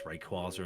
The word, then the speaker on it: Rayquaza: big hitter is a Shiny Rayquaza or Ray quaz however people pronounce it I think it's Rayquaza and that's how it should be I'm locking in Rayquaza K locks nice